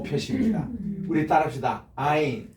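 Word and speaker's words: עין: 아인. 아인. 여기 아인에서 이게 이제 그 우리는 아인이지만 아랍어에 쓰는 이거를 가인이라고 그럴 거예요.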